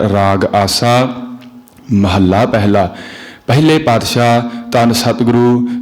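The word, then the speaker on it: ਮਹਲਾ: साध संगत जी जो महल्ले न अधक लाके उचार करना है महला उच्चारण नहीं करना इसका सही उच्चारण महल्ला होवेगा क्यों करके जिस समय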